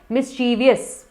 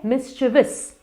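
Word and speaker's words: mischievous: इसकी स्पेलिंग में मिस्चीफ तो कहीं है ही नहीं, तो ये है मिस्चिवस, मिस्चिवस।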